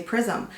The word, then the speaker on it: Prisme: or do you say Prism? Well, in English it's Prism, right? But it's French. So I think in French they say Prisme, and then the Libre is Libre.